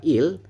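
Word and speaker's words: 읽: itu empat huruf teman-teman Contohnya seperti ini ini dibacanya adalah Il jadi gek yang terakhir itu tidak kita baca teman-teman tapi kita membahasanya adalah Il kemudian yang selanjutnya adalah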